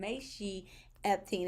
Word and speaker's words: Mechi Epting: If you do not know who I am, Mechi Epting is the correct uh pronunciation.